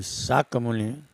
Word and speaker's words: शाक्य मुनि: इसमें जो संयुक्त शब्द क और य है उसका उच्चारण क य यानी क से होगा। जिसे एक साथ शक मुनि पढ़ा जाएगा।